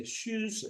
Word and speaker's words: tschüss: Jadi ini ada U.2 umlaut ya namanya. Kita membacanya seperti huruf I, tapi itu dibaca U. Jadi bibir kita seperti I, tapi yang diucapkan adalah U. Jadi shoes, shoes.